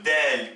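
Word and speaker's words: د: Nous avons aussi la lettre Del qui est le D français qui se prononce comme un D français et qui s'oppose à la lettre emphatique Dad.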